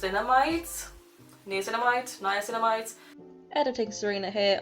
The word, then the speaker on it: niacinamide: amides news an amide niacinamide editing sarena here I have since learned that it's pronounced niacinamide this is like a anti